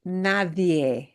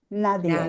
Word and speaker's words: nadie: And make sure you pronounce it as Nadier. Nadia.